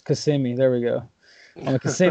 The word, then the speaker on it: Kissimmee: how do you say can always say kiss me but I know that's not right it's cuz see me there we go okay